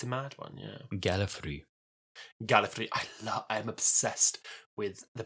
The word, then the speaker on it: Gallifrey: Well, I do find it mad that Gallifrey wasn't mentioned for... I don't think it was mentioned until something like the 3rd Doctor's... Or maybe even the 4th Doctor's, like, by name. Gallifrey.